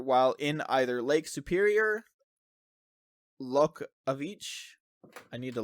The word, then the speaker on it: Loch: Loch. Yeah, this Scottish guy is saying it pisses him off that people say Loch. It's Loch. Loch.